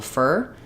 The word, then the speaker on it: for: the same pronunciation, although this one often gets reduced to more of a fur. So if I was doing for warlords, it might sound like fur for 4 warlords.